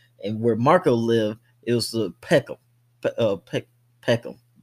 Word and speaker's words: Peckham: where Marco lived is Peckham. Peckham. I can't even say it like that. They're like Puckham Boys, Puckham. You know, because they got this British accents with these kind of,